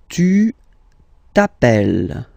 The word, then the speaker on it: tu t'appelles: All right, second form, tu t'appelles. Okay, remember, final S not pronounced. Tu t'appelles.